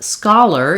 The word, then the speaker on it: scholar: and then interestingly enough scholar even though it's spelled very similarly um has different sounds it follows the rule um or the pattern that often times letter O says the a fowel when it's stressed solar is an exception